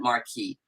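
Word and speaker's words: MARCQI: And the uh the acronym for that is M A R CQI and we pronounce that Marquee.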